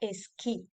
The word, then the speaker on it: esquí: Abajo a la izquierda tenemos el ejemplo de la palabra esquí, con la Q. Ya hemos dicho que en este caso la U no se pronuncia.